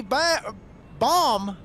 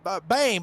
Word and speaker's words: Bame: Cody Ba Bomb, I believe that's his name. Yeah, that's how you pronounced it. Bame, excuse me.